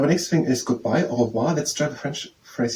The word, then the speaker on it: au revoir: Now the next thing is goodbye, au revoir.